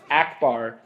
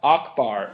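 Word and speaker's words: Ackbar: The name of the Mon Calamari admiral who fought for the Rebel Alliance at the Battle of Endor is Akbar, not Akbar, as you pronounced it.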